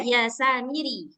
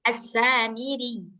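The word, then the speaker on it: السامري: Nah, jadi ee kalau udah begini maka bacanya itu harus di ee tekan sedikit. Nah, assamiri gitu.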